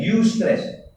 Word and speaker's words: eustress: Dinamakan sebagai eustress. Ejaan dia EUSTRESS. Eustress. Dia tak panggil EU. Macam perkataan Europe. Dia tak panggil kan? Europe. Eustress.